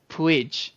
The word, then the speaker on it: Puig: spot to thrive and correction on his name I was looking this up before the podcast so I didn't mispronounce it like I just have been um I believe it's Ricky Puig so uh there it